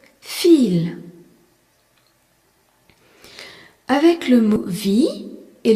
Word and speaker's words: viel: C'est pareil dans le mot viel, V-I-E-L, qui signifie beaucoup. Le I-E est un I long et le V se prononce feu. Viel.